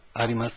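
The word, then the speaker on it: あります: The two verbs are arimas and imas. The U at the end is silent.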